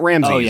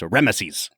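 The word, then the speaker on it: Rameses: name the entire movie three strong syllables it's not Ramsey it's remes remes yeah man I I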